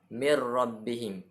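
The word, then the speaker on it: مِن رَّبِّهِمْ: timbul yaitu idgham bilagunnah cara membacanya adalah dengan memasukkan suara dan mati pada roh tidak mengeluarkan bunyi dengung seperti saat membaca Idgham Bighunnah Hai dari bacaannya seperti ini mirrobbihim dengan memasukkan terus kepada huruf ro tampil membunyikan huruf nun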